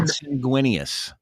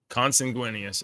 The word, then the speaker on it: consanguineous: Here's how to say it. With blood. Consanguineous. Consanguineous.